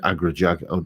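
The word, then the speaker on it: Agrajag: Agra Jag. I don't know. I'm not into all that Dungeons and Dragons cobblers, but it's. It's spelt as it sounds, Agra Jag, and and they look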